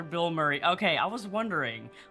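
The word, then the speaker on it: Bilmuri: forly of attack attack band name is pronounced like the actor Bill Murray okay I was wondering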